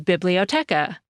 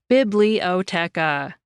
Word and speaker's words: biblioteca: The same word in Spanish is biblioteca. Each syllable in that word gets about the same emphasis, biblioteca.